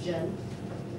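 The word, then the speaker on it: 人: Jen, su pronunciación es R-E-N. Como este se pronuncia como J. Jen. J es como consonante. E es como A, E, I, U, O. Es como vocal. Y más otro consonante forman una sílaba. Y esta sílaba, diferente de inglés o castellano, es más tono. No es como acento, no, es tono. Esto es segundo tono.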